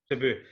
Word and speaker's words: Cebu: 2012, is it, how do you pronounce it, Cebu or Kibu? I'm horrendous with it. Cebu.